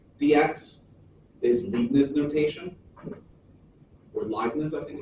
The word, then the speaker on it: Leibniz: Or Leibniz, I think it's pronounced, Leibniz notation.